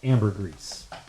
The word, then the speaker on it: ambergris: know about something gross there's this thing called amber grease and it's spelled funny but you could probably google it and like auto correct your way into it but there's this thing called ambergris and it used to